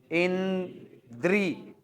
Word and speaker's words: इंद्री: हाँ हाँ, अब जरा द्र वाली जगह पे पहुंचोगे ना तो धीरे हो जाना, और ये देखना ई की मात्रा लगाए किस पे हो। उच्चारण करो, इंद्री, री आया, मतलब र पर लगी है सर मात्रा, और जिसके साथ स्वर